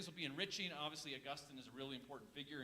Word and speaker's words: Augustine: Now, you said Augustine. I say Augustine. So just in case there's any confusion there, mine's the right way to say it.